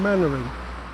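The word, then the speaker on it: Mainwaring: showed Dad's Army now the main character was always pronounced Captain mannering so in 2009 it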